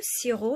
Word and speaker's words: sirop: déjà derrière la caméra le sirop ya un pays qu'on prononce pas sassine lettre u est